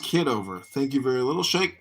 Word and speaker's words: Kitover: He's right at the election ballot with his family voting for John Kitterman. That's weird. It's pronounced Kitover.